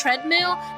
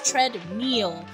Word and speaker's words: treadmill: life for some reason I have pronounced treadmill as tread meal my entire life and nobody effing corrected me until I was like 22 and I'm like like